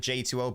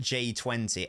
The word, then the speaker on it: J2O: a picture of a j2o bot I was like how do you pronounce that I've never heard anyone call it j20 everyone calls it j2o that's that's surely not